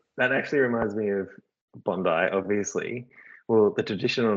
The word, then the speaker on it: Bondi: So it's not pronounced Bondi, it's pronounced Bundi. No, historically. So its indigenous name originally was Bundi. But I guess colonization and now the accepted term is Bondi.